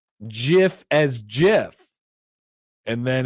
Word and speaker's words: GIF: When you hear someone pronounce GIF as GIF, and then it's a little bird saying, every day we stray further from Jod.